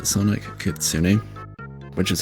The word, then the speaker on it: Kitsune: Yeah, it's Sonic Kitsune, which is how it's pronounced. It's not Kitsune.